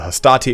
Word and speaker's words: hastati: So the Hastati into the Principes is how I pronounce it.